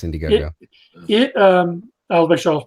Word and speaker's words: Indiegogo: yeah, it's Indiegogo. I'll make sure I was pronouncing it right.